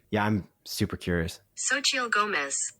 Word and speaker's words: Xochitl Gomez: How do you pronounce that name? Yeah, I'm super curious. Xochitl Gomez. Xochitl Gomez.